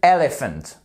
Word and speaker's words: elephant: par une voyelle et on n'oublie pas de bien faire l'accent tonique hein vous voyez ici vous avez une apostrophe qui nous indique que le el forme la première syllabe ici on voit qu'on a un point pour délimiter les syllabes qu'est-ce que montre l'apostrophe que ce sont cette première syllabes ces deux premières lettres qui vont être accentuées ok an elephant perfect